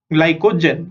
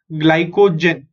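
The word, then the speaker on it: glycogen: Okay GLY ग्लाई CO को GEN जेन ग्लाइकोजन. सो से this word after me so that your pronunciation are correct. Okay ग्लाइकोजन ग्लाइकोजन.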